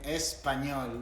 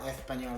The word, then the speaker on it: español: By the way, en español, not español, because it's an S. If it was a C, some people would pronounce with a th, but the th only happens when there's a th, not an S.